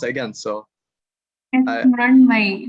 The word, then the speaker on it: Mrunmayee: Mrunmayee, you're pretty close. You're pronouncing it correctly.